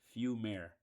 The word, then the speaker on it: Fumaire: If y'all don't know how to pronounce it, it is pronounced Fumare.